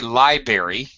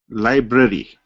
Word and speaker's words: library: jendra do not say liberary you should say J jandra are you there hello hello yeah don't say library say library yes uh that's right I